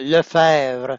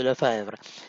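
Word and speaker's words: Lefebvre: Par exemple, d'où vient la lettre B qu'on ne prononce jamais au milieu du patronyme ? Le fèvre ?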